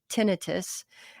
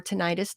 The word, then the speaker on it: tinnitus: now i don't have tinnitus and or tinnitus depending on how you say it which is a